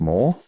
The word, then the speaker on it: MORH: So I started an initiative called Machine or Human, MORH, which is pronounced more.